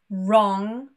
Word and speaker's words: wrong: So, when we have a WR at the beginning of a word, it is most likely a silent W, and it's pronounced as R instead, that R. For example, right, wrong, and wrist.